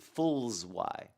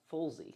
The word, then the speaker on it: Fullzy: He did Fulls Y. That's what I did. No, it's please. It's pronounced Fullzy.